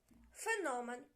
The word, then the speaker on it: феномен: ним феномен чи феномен у цьому слові наголос падає на другий склад феномен на корінь наголос падає